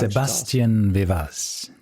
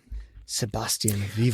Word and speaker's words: Sebastian Vivas: Sebastian Vivas. I mean, did I pronounce this correct? No. Maybe Sebastian. Sebastian Viva. I don't think you pronounce the S at the end in in French.